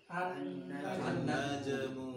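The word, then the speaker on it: النجم: ini, An-najmu. yang bareng 1, 2, 3. An-najmu. Naj ya ini ya. Ada kol-kolahnya, najmu supaya gampang ya.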